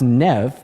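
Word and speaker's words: Niamh: the coolest name I've ever seen so it's pronounced Nev but it's spelled n a MH everybody please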